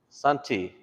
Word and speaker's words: Santi: So Sunday becomes Santi, Santi, because we don't have D's, remember? And so we replaced it with a T.